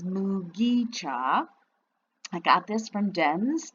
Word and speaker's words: mugicha: was making the video i was saying it with a soft g mujicha but it is mugicha i got this from